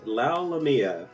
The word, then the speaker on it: Lalomia: am here with chris lau lamia did i get that right nailed it man nailed it all right and you were telling me at rhymes with mamma mia that's right yep as